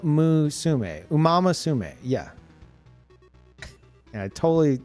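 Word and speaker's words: Umamusume: I'm I'm No, it's Umamasume. It's Umamasume. Uma. Umamasume.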